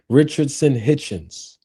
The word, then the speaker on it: Richardson Hitchens: I always say his name wrong. Richard Richardson Richardson Hitchens, right?